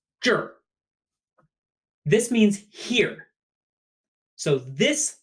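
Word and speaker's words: 这儿: by a noun juror and note that the R becomes earth it turns into one syllable JA R is one syllable juror this means here so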